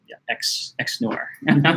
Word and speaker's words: XNOR: answer for sentience and the company X nor is pronounced xx nor okay guys Daria it's